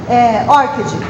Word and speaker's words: ORCID: E os desenvolvedores do ORCID, eles pronunciam assim, eles pronunciam ORCID.